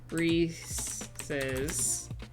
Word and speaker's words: Reese's: a lot subleases timepieces Reese's rhymes with pieces maybe I could say